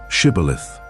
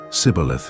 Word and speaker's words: shibboleth: They were asked to say the word shibboleth to prove their identity. However, because of their Egyptian background, they couldn't pronounce it correctly and said sibboleth instead.